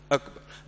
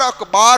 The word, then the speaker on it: اکبر: اللہ اکبر. بعض لوگ اکبر کی جگہ پر اکبار پڑھتے ہیں. کیا پڑھتے ہیں؟ یہ بھی غلط ہے.